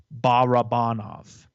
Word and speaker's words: Barabanov: like really okay fine according to hockey reference which has phonetic spelling it's barabanov okay well the next